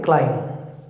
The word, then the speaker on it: climb: climb c l i climb b is silent you know climb climb it is